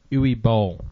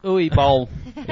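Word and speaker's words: Uwe Boll: Ooey B. Ooey B is how most people pronounce it.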